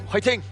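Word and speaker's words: 화이팅: It's kind of pronounced with like a H sound. I mean, instead of just saying fighting, yeah, it's fighting.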